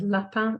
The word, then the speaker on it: lapin: So first of all, lapin in French. Well, segment means to split a word up into its constituent phonemes. So for example, to segment the word lapin, it will be l, a, un.